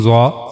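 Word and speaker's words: ظ: origin of zo that for pronouncing zah we have to use top of the tip of the tongue and it will go connect to the edges of the two top front teeth.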